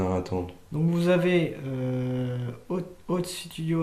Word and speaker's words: Oats: Ça s'appelle Otas Studio. O-A-T-S. Oats. Oats, je sais pas prononcer. OATS, oui, c'est pas Ota. Oats.